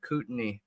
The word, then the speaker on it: Kootenai: do want to How do add you to pronounce that they the are name? evacuating some nearby Kootenai. apartments Kootenai? Yeah, Kootenai.